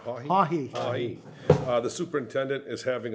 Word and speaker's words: Haughey: Haughey.